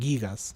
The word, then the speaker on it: Gigas: En el tráiler lo pronuncian Gigas. Ah, ¿ve? Entonces se pronuncia Gigas.